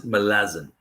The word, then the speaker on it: Malazan: And so the author pronounced it Malazan. Malazan. Yeah. Like molasses.